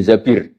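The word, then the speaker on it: الزبير: Kemudian saya nikah sama Abdurrahman bin Zabir. Di hadis ini bukan bacanya bukan Zubair, tapi Zabir.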